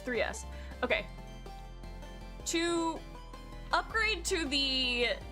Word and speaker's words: 3S: Is it 3S or S3? It's 3S.